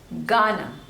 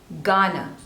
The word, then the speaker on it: Ghana: this one is Ghana Ghana so two slavers and stress is on the first one no Ghana Ghana Ghana next is